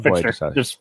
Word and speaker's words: Fichtner: Fichtner. Fichtner. Yeah, you're right. Ignore the T, just Fichtner.